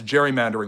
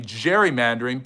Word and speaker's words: gerrymandering: It became gerrymandering, perhaps because it's easier to say and more fun to say, and we're more used to it. So it's a historical mispronunciation for the way that